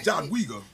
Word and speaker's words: Jadwiga: Jadawiga is No, not Jada. No, it's Jadwiga. Jadwiga. It's Wiga or Jadwiga, but I'm gonna go with the Jadwiga.